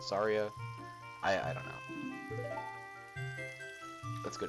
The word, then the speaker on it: Saria: It's Saria, or Soraya, or however you pronounce it. I always pronounce it Soraya, but some people pronounce it Saria.